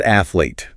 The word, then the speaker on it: athlete: Visually, it looks complex, but it is strictly two syllables. E8. Yet, so many learners and honestly even some native speakers add a phantom vowel in the middle and say 88. Do not do that. Two syllables. Keep it tight.